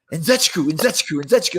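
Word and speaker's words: Nzechukwu: How do you pronounce it? Nzechiku.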